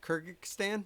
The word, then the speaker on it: Kyrgyzstan: How do you say Kyrgyz Kyrgyzstan?